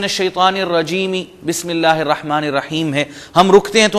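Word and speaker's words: الرحيم: Reality میں زیر ہے۔ یا جیسے یہاں پر میں نے عرض کیا اعوذ باللہ، ہے کے نیچے زیر ہے، رک جائیں گے اعوذ باللہ، بسم اللہ، الحمد للہ، الرحمن الرحیم، جبکہ ان ریالٹی الرحمن الرحیمی، مالک یوم الدین، اور سو آن۔ رک جائیں گے تو جزم اور سکون آ جائے گا۔ آگے ہم بڑھتے ہیں.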